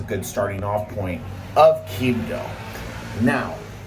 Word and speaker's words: Quibdó: starting off point of Quibdó. Now, Quibdó, which again, you have to accent the O, is the capital city of Chocó.